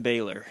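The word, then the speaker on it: Bálor: I don't I don't know how they're gonna pronounce bail or right it's Finn bailar bailar but a lor which is pale or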